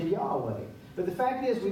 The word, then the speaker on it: Yahweh: Well, now they discovered that that's not the correct way to pronounce the Hebrew letters that were originally pronounced Jehovah. It's closer to Yahweh.